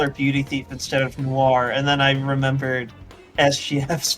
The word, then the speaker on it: Noir: Sorry, I was just thinking of like, yeah, I call her Beauty Thief instead of Noir, and then I remembered SGF's pronunciation of that word.